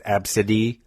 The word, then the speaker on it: Absidy: I forget how you even pronounced it. Absidy. No, it was A, B, C, D, E. And it was Absidy.